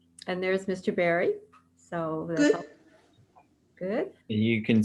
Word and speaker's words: Barrie: Barrie, am I correct in pronouncing your name like fruit? Like a fruit.